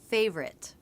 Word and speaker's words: favorite: pronunciation of the word favorite.